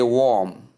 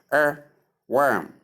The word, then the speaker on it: worm: the way they do they say warm warm please there is nothing like warm with this word w o r m if you say warm You actually mean the word w a r m. That is what gives warm not this one. So please take note of it. This is pronounced the o r here is pronounced as long sound long a sound.